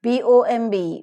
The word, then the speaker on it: bomb: u l b bulb t-r-i-b-e tribe is aspirated b-o-m-b bomb c-o-m-b comb lmb lamb and debt debt